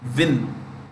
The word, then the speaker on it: Nguyen: Okay, ये जो first word लिखा है हमने Nguyen, हम क्या कहते हैं? गुयन बोलते हैं. एक्चुअली वो क्या प्रोनाउंस करते हैं? विन. WIN. विन.